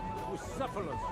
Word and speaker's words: Bucephalus: It's pronounced Bucephalus.